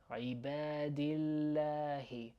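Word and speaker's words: عباد الله: عبادillahi عبادillahi عبادillahi. السلام علينا وعلى عبادillahi عبادillahi. And we have that doubling L sound.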